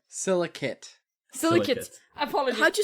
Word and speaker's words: Silicate: Is it silicite? Silicate. Silicate. Apologies. How'd you spell that?